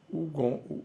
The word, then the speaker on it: Hugon: uma conferência an ugon an ugon se pronuncia assim em francês é se escreve ugon u h u g o n ugon né Ela é